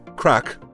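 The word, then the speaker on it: craic: For example, in Ireland, crack is spelled C-R-A-I-C, and it means fun time.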